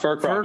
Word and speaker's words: Fircrest: a recruitment consultant for is it fur crawl for our crops how do you say the name they're one fur cross across correct I was gonna say